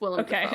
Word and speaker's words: Willem Dafoe: say his name what William defo is it William or is it Willam oh it's will it's will def okay I was like